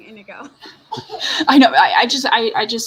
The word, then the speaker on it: Inigo: Yeah, and I love that whole going back to the beginning for Fezzik and Igno. Yeah. Now I'm gonna say it wrong, Inigo.